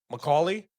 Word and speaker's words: Macaulay: Macaulay.